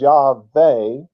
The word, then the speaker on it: Yahweh: That's Yahweh, which they pronounced as Yahweh, since the W made the V sound in their language.